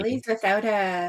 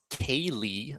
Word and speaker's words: ceilidh: there's Ceili and Ceilidh, both pronounced Kaylee, I'm pretty Yeah.